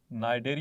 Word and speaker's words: Cnidaria: phylum सिल trait या इसको नाइडर भी बोलते हैं सी इसमें साइलेंट है नाइजेरिया फाइलम नाइयां स्टूडेंट्स